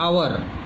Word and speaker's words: hour: हाँ, उसके बाद एन आवर, HOUR होता है, आवर ओ आ जाता है, इसीलिए वॉवल साउंड देता है।